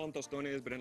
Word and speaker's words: tostones: And these are some tostones.